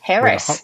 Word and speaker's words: Heras: your last name right is it with a hard s like Harris or is it Harris that's perfect okay I wasn't sure if it was harz like more more of